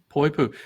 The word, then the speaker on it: Poipu: that I boy poo Poipu this thing about the the the Hawaiian language is you pronounce every letter not everybody knows that